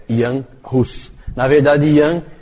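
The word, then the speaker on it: Jan Hus: não conhece não sabe com pronuncia mas a pronúncia é Ian Russos na verdade Ian é um apelido para iorranes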